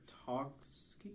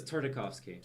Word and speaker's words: Tartakovsky: Tartovsky. It is Tartovsky. No, okay. It's not Tarkovsky, but Here, it's No, not it's use not Tartovsky. It's Tartakovsky.